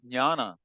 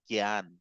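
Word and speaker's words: ज्ञान: Because in Hindi, we would have said Gyan. God knows how that came about, but jnana. And this is why I said it's a pleasure to hear South Indian pronunciation.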